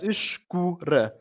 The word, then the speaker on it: escura: Yeah, if you break this word down a little bit, if we do it into syllables, the famous phonetics, this is where they come in. Yes. We have escura. Cool. We've already talked about this little syllable over here quite a few times. The funny one. The cool, yes. So we got the soft E with a sh sound, almost like you're shushing someone.